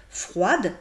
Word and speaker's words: froide: Donc si je vois un adjectif comme froid, je sais que si je rajoute un E, j'ai la forme féminine de l'adjectif, que c'est froide. Et je dois prononcer froide, donc je prononce le E, parce que ça